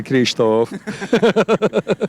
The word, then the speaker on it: Kristóf: you can't say my name very good yeah Kristof okay tell us a bit about the movie